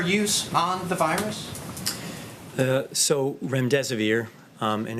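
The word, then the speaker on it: remdesivir: so much I wanted to ask out rent rent severe if I pronounced that correctly can you tell say is it currently approved for use on the virus so REM des aveer and it's a drug made by Gilead that's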